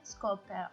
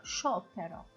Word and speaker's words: sciopero: Scoppero, ma pronunciation non è scoppero, sciopero, sciopero.